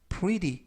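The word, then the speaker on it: pretty: 내일 눈이 올 것이다라는 뜻이 되겠습니다 이번 표현은 pry pry pry라고 발음하시면 되겠고요 이때 발음해 티 발음이 트가 아니라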